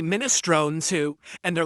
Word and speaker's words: minestrone: In Italian, it's pronounced minestron. That is absolutely correct. Someone said that in the kick chat, and they're actually smart. That's the Italian pronunciation. Minestron.